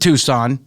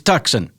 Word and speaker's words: Tucson: It isn't Tucson, it's Tucson.